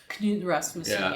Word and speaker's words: Knud Rasmussen: And I do have to say, we had planned to go and see the Knud Rasmussen, that's how you say his name, right? Knud Rasmussen, yes.